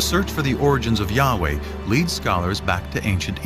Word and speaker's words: Yahweh: And his name was these four letters, which in English would be YHWH, which we think were probably pronounced something like Yahweh.